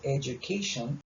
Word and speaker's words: education: Education, acá la D se pronuncia como una J, entonces education, esta D no es como una, no se pronuncia como D, sino como J.